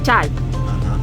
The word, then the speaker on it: çay: Porque de hecho, la última parte, o sea, si sacamos la A y la K, es como se escribe T, que se pronuncia chay.